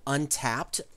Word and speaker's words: Untappd: we use Birdie and I use an app called Untapped. That's spelled UNTAPPD.